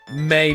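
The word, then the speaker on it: mais: like if you saw May be bian month men like there was one about but good sir but May's m a i s you actually just say may you don't pronounce the s and that's but so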